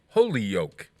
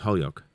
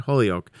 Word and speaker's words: Holyoke: fame which is in springfield 20 minutes from holy yolk holyoke holyoke what do you mean it's that's exactly how it's pronounced holyoke holyoke a yes yolk no not holy oak it's actually holyoke holyoke yes there's no l